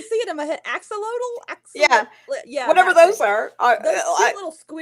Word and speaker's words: axolotl: Um, so like there's a those, I'm gonna mispronounce this horribly, like those oxodals, those like weird salamanders.